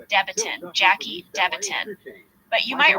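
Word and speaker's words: Debatin: guys Big Ben Franklin news we found Jackie debotton Elizabeth the stripper however her last name is actually pronounced deiton Jackie deiton but you might remember she is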